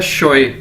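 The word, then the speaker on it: 学: एक्स को Chinese में शीन के तौर पर प्रोनाउंस किया जाता है, तो ये क्या है? शोए।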